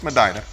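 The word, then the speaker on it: Medina: Highway in Madina Tennessee I was corrected on my misspelling on my mispronunciation of that last week nope it's Madina home of Alicia Owens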